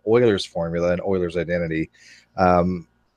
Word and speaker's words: Euler: We're going to do a real quick hangout on what's called Euler's formula and Euler's identity.